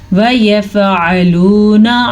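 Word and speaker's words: يفعلون: امرہم وَيَفْعَلُونَ مَا يُؤْمَرُونَ وَيَفْعَلُونَ عین کے تلفظ کا دھیان رکھنا ہے کیونکہ عین کے اوپر عین جو ہے حلق سے نکلتا ہے اور یہ خاص مخرج ہے ما یؤمرون.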